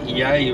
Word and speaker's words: Yea: on the Woodle SE yay road yay is spelled yeah so um we're not